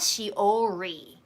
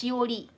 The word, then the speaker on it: Shiori: It's not Shiori, it's Shiori. So it's more like a L sound, but it's not completely L sound.